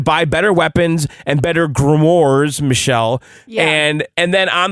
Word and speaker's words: grimoire: Grimoire. How do you say it? Grimoire. I hope they're not groomer books. No, grimoire books.